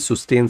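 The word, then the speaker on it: sustain: कहता है, तो प्लीज सुस्टेन सस्टेन पे कमेंट मत करना, बहुत सारे कमेंट पढ़ पढ़ के मैं थक गया हूँ। ब्रिटेन में सुस्टेन, यूके में यूएस में सस्टेन, सो वो प्रोनाउंसिएशन आर ओके, बट ये क्लोज होनी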